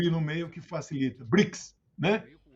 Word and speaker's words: BRICS: a sigla é uma Cromo é uma sigla pronunciado tem o hino meio que Facilite brix né o PEP Petrobras são siglas chamados pronunciáveis